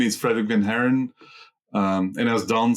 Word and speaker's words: Van Haren: our name was that Van Haren is difficult to pronounce in Asia because they don't pronounce the R. So our real name is Van Halen.